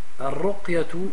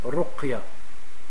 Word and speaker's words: رقية: Al-ruqyatu bisukun il-qaf. Donc, premièrement, on dit ruqya, c'est-à-dire sur le qaf, on met une sukun.